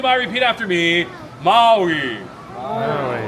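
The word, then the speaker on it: Māui: With that long let me hear it. Maui. Maui. So Maui is the name of the ancestor, the person, the dude. There's another part to this one. So you ho, pili mai, repeat after me. Maui. The short I, you hear it?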